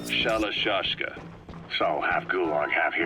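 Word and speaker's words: Shalashaska: known about that because somewhere along the line shoshka got stuck on the end of shiroshka the gorillas were using the name amongst themselves by the time I got to hearing about it pronunciation had wound up as shalashka so half gulong half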